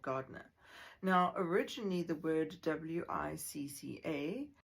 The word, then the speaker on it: Wicca: Now, originally the word Wicca, The Old English pronunciation for this is witcher.